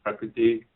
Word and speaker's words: Prakriti: Rit is actually a vowel, and it's a very short sound.